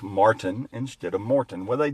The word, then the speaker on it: Martin: Those that know me know that my name is Martin, not Morton.